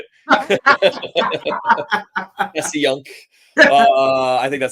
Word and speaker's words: Passyunk: Passyunk.